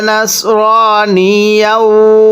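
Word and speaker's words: نصرانيا: মা কানা ইব্রাহিমু একসাথে মা কানা ইব্রাহিমু ইয়াহুদিয়াও পড়ুন ইয়াহুদিয়াও ওয়ালা নাসরানিয়াও একসাথে ওয়ালা নাসর অনেকেই সদকে সিন উচ্চারণ করি সদকে সিন উচ্চারণ করলে পড়াটা শুদ্ধ হবে না আমার সাথে পড়তে হবে পড়ুন ইয়াহুদিয়াও ওয়ালা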